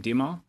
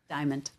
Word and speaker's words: Diamant: My first question is for Ms., and I missed the pronunciation of your last name, Dimal? Diamond.